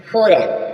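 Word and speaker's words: foreign: जी silent होगा run rain means राज्य जी silent है नेक्स्ट चलेंगे फोरेन फोरेन मींस विदेश फोरेन न मीस विदेश यहां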